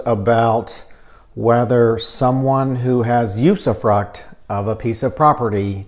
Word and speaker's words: usufruct: flex use of flux use of frocks plus lots of other pronunciations but not to be too picky the correct pronunciation is usufruct there's not an S or an X on the end so this comes up